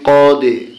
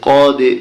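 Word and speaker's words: قَدْ: coffee জবর ডালে জজম কদে এরকম করে বলতে হবে কদে দেখুন তীর চিহ্ন আছে ডালের নিচে ডালকে কলকলা করতে হবে আর কলকলা করলে উচ্চারণটা হচ্ছে কি কদে ফা জবর ফা র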